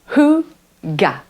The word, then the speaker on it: hygge: Ça se prononce Hygge.